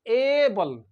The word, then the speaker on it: able: And this word is ABLE. This is able. इस ए को कैसे पढ़ेंगे? How do we pronounce the A?